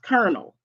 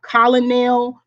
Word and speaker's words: colonel: Why is it pronounced kernel?